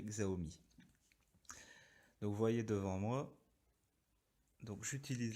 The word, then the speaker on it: Xiaomi: présenter la domotique selon xao me xiaomi pour ceux qui veulent prononcé à la chinoise moi je dirais xao me vouvoyer devant moi donc